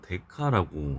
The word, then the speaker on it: 데카: 10의 1승은 DA라고 쓰고 데카라고 읽습니다.